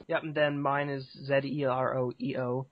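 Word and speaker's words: ZEROEO: Yep, and then mine is Z-E-R-O-E-O. Zero E-O. Some people pronounce it Zero, which isn't right, but just Zero E-O, which is confusing.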